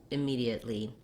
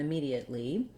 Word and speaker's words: immediately: to pronounce immediate and immediately so this word these words immediate and immediately have the stress on the second syllable which means that the me syllable is long and has a clear vowel and the other syllables